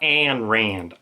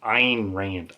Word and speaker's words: Ayn Rand: Not Anne Rand, Ayn Rand.